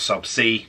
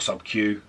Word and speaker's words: sub-c: intramuscular and subcutaneous uh referred to as sub c not sub q that drives me insane i know it sounds like a cube but it's spelt over c just get it right